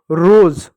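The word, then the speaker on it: rose: एस को स नहीं पढ़ोगे। यहां पर इसको क्या पढ़ेंगे? इसको जो है ज पढ़ेंगे। ये साइलेंट होगा। रोज रोज नहीं रोज। ज होता है ज रोज रोज हो गया उसी प्रकार देखो नोज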